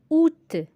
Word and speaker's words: août: Exemple, août, le A est muet au début du mot.